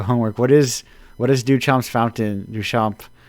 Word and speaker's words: Duchamp: Duchamp, to properly put the French on it.